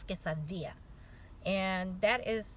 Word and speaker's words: quesadilla: Okay, when you say the word quesadilla, it's not quesadilla. No, it's quesadilla.